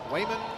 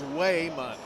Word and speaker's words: Wayman: ask me last year why can you not pronounce Raymond yeah but his name is Wayman w y m o n Wayman West I'm not pretending